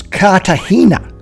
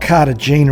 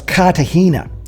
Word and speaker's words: Cartagena: It's Cartagena. It's not Cartagena as we would spell it in English. You drop the G and bring in a H. So it's Cartagena.